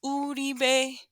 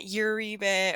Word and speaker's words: Uribe: way it's supposed to it's uti bay all right not uribe or rebay or something weird not